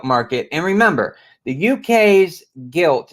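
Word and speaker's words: gilt: and remember the UK's guilt it's g-i-l-t guilt Market I know it sounds like I'm saying guilt but no guilt I think I'm pronouncing it right I I guess I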